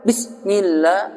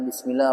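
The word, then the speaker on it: بسم الله: Kalau dibaca tadi bismillah ditekan nih. Bismillah itu jadi berubah sifat, jadi syiddah.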